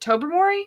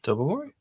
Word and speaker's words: Tobermory: Tobermory? Tobermory.